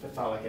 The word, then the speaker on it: phthalic: good way to make the phthalamide out of phthalic acid. And you're probably not supposed to pronounce both the pH and the TH. Do you remember how your instructor pronounces this? Probably just phthalic acid?